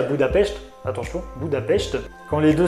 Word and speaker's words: Budapest: Et on retrouve aussi Natasha à Budapest, parce que oui, pendant tout le long du film, elle dit que la prononciation de Budapest c'est Budapest.